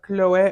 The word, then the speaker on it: Chloé: from the house of kiloe or Chloe however you want to pronounce it it's actually pronounced in French it is a French